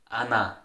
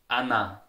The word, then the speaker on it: einer: Now for the indefinite article einer, we pronounce it Anna. It's Anna. Anna.